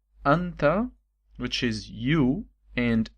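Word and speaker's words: أنتَ: Is either you can say anta with the accent on the letter t, okay? So the accent like that is anta, and if the accent is below the letter is anti.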